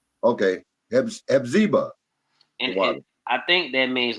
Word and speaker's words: Hephzibah: But thou shalt be called Hephzibah. You said it right. Okay, Hephzibah.